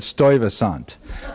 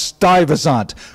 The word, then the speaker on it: Stuyvesant: So apparently, in my ignorance, I said Stuyvesant, which is, that's how you spell it.